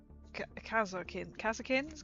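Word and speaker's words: Kasrkin: Check out check out the amazing tundra tundra power working on the kazakin kasakins.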